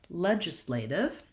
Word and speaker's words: legislative: Legislative is sort of unusual in that it has first syllable stress rather than the penultimate syllable being stressed, which is a more typical pattern. And so we want to make sure that we're lengthening on the ledge portion, and then the islative is quick and reduced.